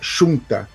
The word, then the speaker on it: junta: Junta falamos assim, os galegos vão falar chunta.